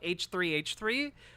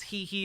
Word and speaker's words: H3H3: me on he he which I've now been told is not how you pronounce the name of the the podcast you call it h3h3 which seems silly to me since he he is right there and